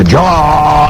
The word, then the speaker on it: Adjara: Dans la tradition, quand on disait avant, Adiara, Adiara, il faut même prononcer Adiara, Adiara.